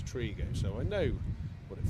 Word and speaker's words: Trego: my only defense is I've been pronounced Trego for 25 years and it's Trigo so I know what